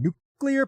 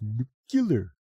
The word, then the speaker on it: nuclear: efforts to begin generating nuclear power once it takes effect. Remember, it's pronounced nuclear. Nuclear.